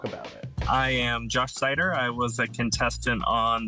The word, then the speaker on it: Seiter: came out as bisexual um and oh it's cider it's pronounced so chatting today now Josh you were